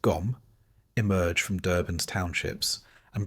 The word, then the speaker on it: Gqom: Gqom, pronounced Gom, emerged from Durban's townships and brought with it a raw, minimalistic sound driven by heavy bass and sharp rhythm.